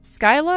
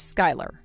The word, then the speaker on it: Skyla: It's spelled Skyla, but you read it as Sky.